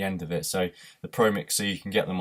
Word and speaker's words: Promixx: i'd definitely recommend the pro mix and it's pro mix it's spelt p r o m i x x it's not pro mixer it's pro mix with double x on the end so definitely recommend them